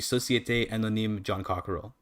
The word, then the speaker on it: Jean Coquerel: So I always pronounce it like it's a French name, but it's an English name. But the I guess should be Société Anonyme John Cockerell, which sounds really fucking stupid.